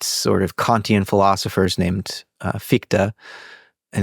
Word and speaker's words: Fichte: So Schelling was still a teenager reading Kant and studying and collaborating with one of the first sort of Kantian philosophers named Fichte.